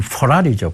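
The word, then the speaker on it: Ferrari: 미국 발음은 포라리죠.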